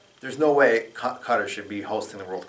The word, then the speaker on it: Qatar: It's spelled Qatr, and it's pronounced Qatar.